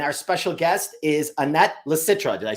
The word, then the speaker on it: Licitra: I am your host, and our special guest is Annette Licitra.